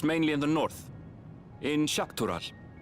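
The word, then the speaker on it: Xak Tural: The Chatona, as my people are called, have settlements mainly in the north in Shakural. Shakarol. So is X pronounced as sh?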